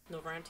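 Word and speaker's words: Norvrandt: And the Shard, the first, is also known as, I'm going to probably not pronounce this correctly, Norvrant? Is that Norvrant? Yep, okay. Norvrant, yeah.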